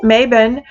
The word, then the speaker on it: Mabon: for the summer solstice, and Mabon, which is how I pronounce it, Mabon for the autumn equinox.